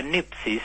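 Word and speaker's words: νῆψις: La nipsis, así se pronuncia en griego, es la sobriedad, la seriedad de las cosas de Dios.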